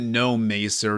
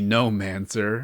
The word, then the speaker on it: Nommancer: He calls it No Mer even though it's definitely Nommancer.